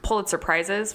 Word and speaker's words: Pulitzer: He's won 2 Pulitzer Prizes for journalism. And so when Bob Woodward... I believe it's pronounced Pulitzer Prize. Oh. Which, when I was younger, I thought it was Pulitzer Surprise.